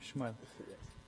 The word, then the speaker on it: Shmuel: It's my own name, Shmuel.